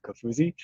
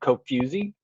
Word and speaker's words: Kofuzi: a phonetic representation of kafuzi you know what's funny is um a lot of people will call me coke fusey because if you put it into to siri that's how siri reads it that's that's what i